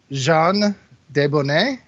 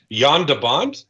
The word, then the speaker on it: Jan de Bont: So Jean Debonnet, I believe is how you pronounce it. Jan de Bont? Jan de Bont. Oh, is it Jan de Bont? Yeah. Wow, You've both been saying it wrong.